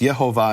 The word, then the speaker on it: Yehovah: Now, in English, people call that Jehovah, but in the Latin, it's actually pronounced Yehovah, and later Latin, it would be Yehovah.